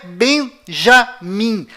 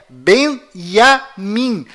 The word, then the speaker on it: בנימין: Além disto, não é Benjamin. A pronúncia correta é Benyamin. Pois lembre-se, até hoje não existe em hebraico nenhuma letra com som de J.